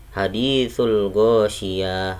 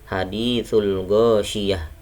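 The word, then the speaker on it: حَدِيثُ الْغَاشِيَةِ: di sini ya hanya bukan bacanya Hadi Soul gosiyah salah haditsul gosiyah kyuhyum aidzin khosyi'ah Bukan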